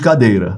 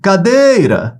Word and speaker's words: cadeira: temos um oxito né Vamos pegar a palavra cadeira ó se a letra aí tiver feia porque é muito difícil escrever com isso aqui tá gente ó cadeira Vamos separar as sílabas C deira qual é a sílaba tônica imagina que um colega seu tem um apelido de cadeira aí você vai chamar por ele cadeira venha cá ó cadeira onde é que se prolonga no dei ó lá cadeira